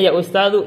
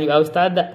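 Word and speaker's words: يا أستاذُ: Abbasun ya ustadu, jawab bacanya ya ustadu, jangan ya ustada.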